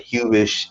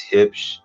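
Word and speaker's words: Huebsch: It's not Hubish, it's Hipsch.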